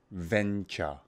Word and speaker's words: venture: section repeat after me venture venture venture hunger the sound is similar but it's the V pronunciation venture venture venture yeah rich took on